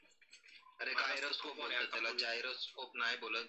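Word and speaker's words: gyroscope: गायरो Hindi English Hindi Marathi काय नाही, गायरोस्कोप बोलतात त्याला, जायरो नाही बोलत। नाही नाही तुझं म्हणणं कशा बरोबर सांगा, ते स्पेलिंग काय जीवाय आर ओ एस टी S spelling वरती नाही बोलत आहे, पण ते जायरोस्कोप नाही बोलत, गायरोस्कोप बोलतात।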